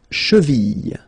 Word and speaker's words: cheville: La cheville, la cheville. Remember, double L like that after I, cheville.